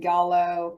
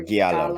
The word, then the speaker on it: giallo: like Jello, but Gia at the beginning, so Yellow, Giallo.